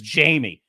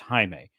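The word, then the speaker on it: Jaime: scene in the scene he audibly said my name ISE and she says Jamie and then he it's pronounced Hae and then she okay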